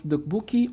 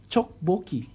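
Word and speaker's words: tteokbokki: Some pronounce dukbuki or chokboki.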